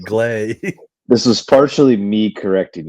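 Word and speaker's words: Gleyber: Yeah, I think you called him Glabber. Glabber. Yeah, Gleber. It's okay. I didn't call him out. It's like gray. Yeah. Yeah. That's But it's glee. Yeah. I pronounce it like gray. Like glay.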